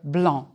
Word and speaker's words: blanc: C is not pronounced in the color blanc.